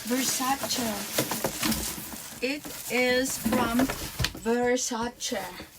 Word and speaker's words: Versace: Lord Oh no it's versace it is from versace according to Miss donatella versace you should pronounce it as versace not versace versace let me tell you